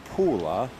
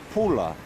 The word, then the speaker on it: Pula: And she said, no, not Pula. She said, it's Pula, like P-U-L-A.